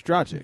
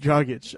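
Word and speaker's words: Dragić: You didn't even make fun of the fact that I said his name wrong. Because you don't even know his name. Oh, it's Dragic. Dragic.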